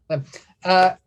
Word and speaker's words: Liem: Liem. It's spelled Liem, but you could say Lem. I say Lem either way.